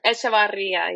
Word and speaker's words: Echevarria: Wait, do you actually say the me. H or is it like etch? You said yep, the H is silent. So, okay. Echevarria.